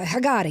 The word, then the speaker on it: Haggadah: my Haggadah. Is that Yeah, how you say it? Haggadah.